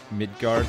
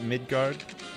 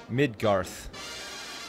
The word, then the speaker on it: Midgar: like that is it is it midgard did I pronounce that right you guys all going crazy because I I mispronounced the Final Fantasy to name gar cloud city under City circles Ville I think it's midgar midgar midgar oh hey Panda what's